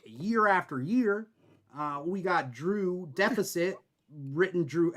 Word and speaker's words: Drew X Deficit: loud and pronounced, while the X in Drew Deficit is not. That is silent.